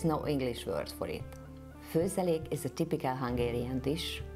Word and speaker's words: Főzelék: If you see a comma on the top of the O, it's still an O, just longer. O. The second word is Főzelék.